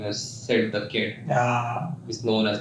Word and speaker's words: Sid: I'm like, Sid, S-I-D. Okay, oh, Sid. Like Sid the Kid.